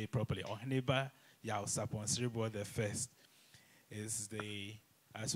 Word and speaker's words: Oheneba Yaw Sarpong Siriboe: So Nana Yaw Sarpong Siriboe the first, or I should actually say it properly, Oheneba Yaw Sarpong Siriboe the first, is the, as we all heard, Akyempemhene, the first Akyempemhene of Juaben traditional area.